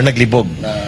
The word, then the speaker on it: naglibog: niya naglibog Oo nli the accent should be faster naglibog not on the first syllable okay Kasi naglibog okay